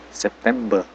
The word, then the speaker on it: September: Terus yang hurufnya ada R di belakangnya kayak September, Oktober, November, Desember itu R-nya hilang. September, Oktober, be gitu.